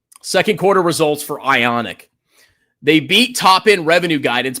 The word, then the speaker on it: IonQ: Ionic rhymes with Sonic down 5%.